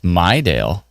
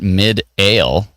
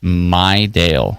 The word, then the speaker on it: Midale: Ah, it's Maidale. Not Midale as it is spelled, but my dale.